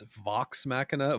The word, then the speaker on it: Vox Machina: Yeah, it's Vox Machina, Vox Is it? Machina the whole time. This guy and his pronunciation.